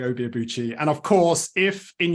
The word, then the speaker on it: Obi Abuchi: Carol mentioned my name, so the correct pronunciation for my name is Obi Abuchi. So that's and I learned that when I was in Nigeria, although most of the time I say Obi Abuchi.